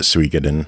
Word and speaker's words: Suikoden: Well, that's just how I've pronounced it, Suikoden. Oh shit! So it might be wrong. I'm pretty sure that's correct. That's the only way I've ever heard anyone pronounce that game.